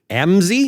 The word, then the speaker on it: Amzi: When Moody died, the person who took over his own pulpit at Moody Church in Chicago was Amzie. Is that how you say his name? Yeah, Amzie Dixon.